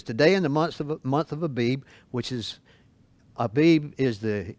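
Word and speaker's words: Aviv: You are, in fact, a lot of places spelled A-V-I-V, but it's pronounced like Abib.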